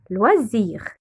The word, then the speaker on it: loisirs: Sport et ET, loisirs. Le S, on prononce SZ car il vient entre deux voyelles, le I voyelle et le I voyelle.